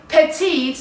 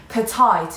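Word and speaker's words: petite: شامل من نمیشه، ولی پتیت نها کنین تلفظش چجوریه، کلن دو تا سیلاب داره و استرسش روی سیلاب دوم هستش و دقت بکنین بچه ها اینو خیلی ها اشتباه اینجوری میخونن پتایت، این غلطه.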